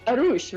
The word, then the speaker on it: Arush: Arush, right? Am I saying it right? Yeah, you are.